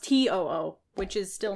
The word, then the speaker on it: TOO: boy group to spelled t o o it's pronounced to o o which is still not good yeah but I